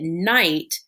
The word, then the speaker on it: knight: spell that word now i see i ght and i know that night the in night is filled with kn and then i can